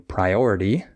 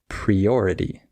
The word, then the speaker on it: priority: instead of uh saying priority maybe you say priority and you just need to change the pre to pry or maybe you say